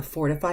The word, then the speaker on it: fortify: the lair R and when the letter T follows after this are controlled vowel it's softened and I notice it the other day when we had the fortify lesson and somebody even asked within the lessons of like fortification what why is there the D sound even in the pronunciation at